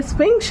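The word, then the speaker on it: Sphinx: द स्फिंक्स Ishan ये स्फिंक्स है न एस पी एच आई एन एक्स इसको कहते हैं स्फिंक्स ओके प्रोनाउंस करेंगे इसको स्फिंक्स यह उसकी मां उसको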